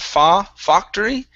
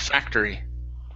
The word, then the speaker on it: factory: is the word factory instead of pha factory give me an a sound factory factory there you go good